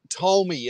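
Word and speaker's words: Tolmie: there's a park nearby and it's called Mount Tomi and that's spelled t o l m i E I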